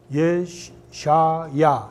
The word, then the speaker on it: 예샤야: 그래서 이게 우리 지금은 이사야라고 하죠. 근데 이게 예샤야 이렇게 읽습니다. 근데 사실 발음은 어려워요.